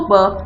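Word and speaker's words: burp: लेने की आवाज को बर्प कहते हैं। आर आमतौर पे साइलेंट होता है, इसको पढ़ते हैं बर्प।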